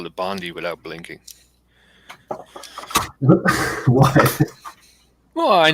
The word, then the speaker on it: Bondi: well they call it bundy bandai i'm from canada my friend we say semi instead of semi exactly yeah bondi exactly exactly like the singer blondie but she doesn't spell